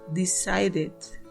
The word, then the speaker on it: decided: Vamos con el siguiente el verbo decide decide terminan e en su escritura pero en su pronunciación terminan de decide decide como es verbo termina también en la pronunciación en D en pasado su pronunciación